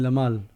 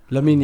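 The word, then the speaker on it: Lamine: So, I'm notic I keep saying his name wrong. You mean Lamal? No. Lamin.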